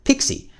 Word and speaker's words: PXE: It's in the PXE is pronounced Pixie.